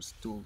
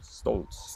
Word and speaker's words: Stolz: Is it Stolz or Stools? Stolz. Stolz.